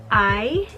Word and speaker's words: Ai: The next book I read is a manga, and it's Nana Volume 1 by Ai Yazawa. I believe it's pronounced I.